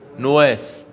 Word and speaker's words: نواس: يوسف بص يا حبيبي اسمه نواس على زنه غراب شوف انت كيف بتنطق كلمه غراب قل غراب قل غرا غراب ها هات نواس زيها كده نواس احسنت كان كان الصغرى